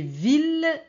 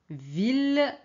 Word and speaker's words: ville: c'est Camille Camille ok on a des exceptions c'est ville et village ville et village village ok on prononce l alors très bien si